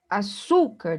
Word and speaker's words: açúcar: Açúcar, da mesma forma, o su é a sílaba mais forte, é a penúltima sílaba.